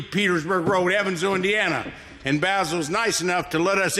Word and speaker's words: Basil: We're here talking to Basil. Basil. That's the English pronunciation.